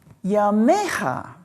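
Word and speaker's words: ימיך: And then you know the noun yom, which is day, and it's just pronounced a little differently, yamecha, your days.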